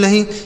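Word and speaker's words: know: या अगर के के साथ एन लिखा रहता बच्चों तो के साइलेंट रहेगा। तो इसे क्या पढ़ेंगे? केवल और केवल इसे नो पढ़ा जाएगा।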